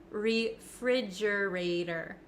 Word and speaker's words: refrigerator: don't think it is listen to how I pronounce it refrigerator refrigerator refrigerator now the ater the T at the end of this word it becomes a flap T in American English that means it kind